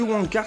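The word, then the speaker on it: Wang Cars: Mais ce qui est bizarre, c'est que Wong Cars se prononce comme Wankers, signifiant branleur.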